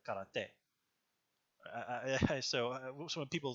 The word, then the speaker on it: karate: Like here in English, for example, we say karate. In Japanese, we more like karate.